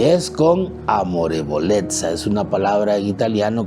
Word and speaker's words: amorevolezza: Amorevolezza, que termina así como se pronuncia la palabra pizza, ¿no? Pero es amorevolezza.